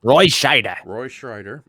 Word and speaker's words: Roy Scheider: So, Goji Shea says damn it, I said the name wrong. Roy Scheider.